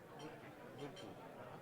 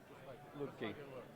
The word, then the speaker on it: Lupke: Lupke. Just like it's spelled. Lupke. Lupke.